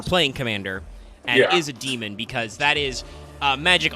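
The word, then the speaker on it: daemon: this is you know demon with the the EA even though you normally pronounce that demon anyway but that's a smarter design for magic because it means that you can just include demons.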